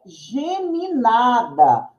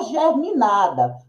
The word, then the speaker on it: geminada: nós vamos sempre falar a casa é geminada e não germinada O peixe tem espinha